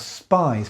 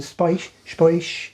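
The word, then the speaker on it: Spiez: It spells spies, but I think the Swiss would pronounce it spoish, right?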